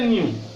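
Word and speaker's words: ν: हैं फ्रीक्वेंसी को, और बोलने का तरीका न्यू बोलते हैं, एन यू।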